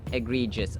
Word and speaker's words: egregious: to our vocabulary term it's egregious egregious along e on the second syllable egregious I agree just